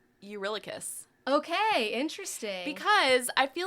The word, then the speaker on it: Eurylochus: I'm going to say, honestly, and this is why I said I would come back to this, but I'm going to say Eurylochus.